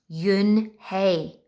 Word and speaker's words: Unhei: Yes, it's pronounced Yunhei. And it means grace, Mr. Kim added. Yunhei, Joey said slowly, and this time perfectly.